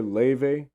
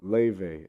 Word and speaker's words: Laufey: Do you know the singer Leve? No, but put me on. Leve. It's spelled like Laufey, but dude, she's so